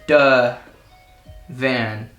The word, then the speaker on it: Divan: kidding my name is divan for those who cannot pronounce it it is duh van it's two syllables how do you mess that up don't mess it up